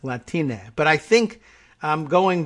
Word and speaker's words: Latine: latine she says uh don't pronounce it with the nye just say na like latine but i think i'm